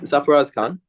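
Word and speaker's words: Sarfaraz Khan: saf I'm going to butcher his name but safuras Khan am I did I pronounce that correct safas Khan right right safas Khan so my my takes on that is I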